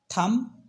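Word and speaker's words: thumb: प्लबर नहीं बोलते सेसे बोलते हैं प्लमर प्लमर थम और लम तो यहां पर बी साइलेंट होता है एम के बाद कुछ वड्स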